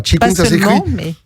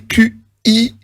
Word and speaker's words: Qigong: Voilà, Qigong, ça s'écrit Q-I-G-O-N-G, oui. Qigong.